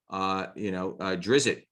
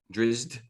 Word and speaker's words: Drizzt: Drizzt, did I pronounce that right? Drizzt.